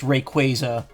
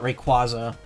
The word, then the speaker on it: Rayquaza: Rayquaza, which Pokemon had to go out of their way at Worlds this year to clarify. It is pronounced Rayquaza, not Rayquaza.